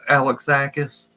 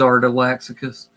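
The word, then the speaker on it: Art Alexakis: I used to always call it lean art Alex ACA's and it wasn't until just a few years ago that I heard him pronounce his name because I've heard it pronounced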